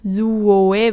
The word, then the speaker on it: luoe: how it looks like, I pronounced more like luwe. At least sometimes, I sometimes also pronounce it as 3 syllables, luoe, when I said it very slowly. But in colloquial speech, if you have oe after a word that ends with u, like lu, then it becomes we.